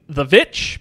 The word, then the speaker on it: The VVitch: new england folk tale or as i like to say the witch because they spell it with the two v's instead of the w which apparently is an old-timey way of spelling it um yeah it's